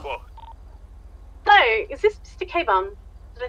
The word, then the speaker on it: Kebun: Kebun?